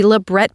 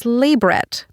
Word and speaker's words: labret: are both wrong because the most correct way to say it in an anthropological context is labret but G I hate